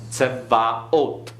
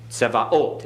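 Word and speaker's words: צְבָאוֹת: Notice the vocal schwa. Tse, tsevaot. Okay? Tsevaot.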